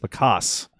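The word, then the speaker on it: LaCosse: He's talking about Matt Lacoste, I believe is how you pronounce it, or Lacoste? Lacoste.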